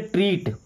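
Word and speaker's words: treat: टी आर इ ए टी। इसे क्या पढ़ेंगे? ट्रीट। बड़ी ई की मात्रा आ रही है ना?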